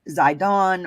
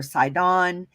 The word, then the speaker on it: Zidon: the strongs and the brown driver briggs it's pronounced zydon or said on and it means like a hunting ground specifically